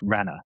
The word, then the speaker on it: Ranger: Ranger Suarez says his name's not Ranger, it's Rana.